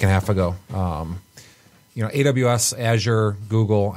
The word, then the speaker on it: Azure: AWS, Azure, Google, it's like the cloud.